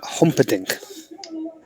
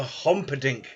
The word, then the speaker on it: Humperdinck: humperdinck there you go that's his name oliver humperdinck we were looking for hom-podink oliver i mean you guess the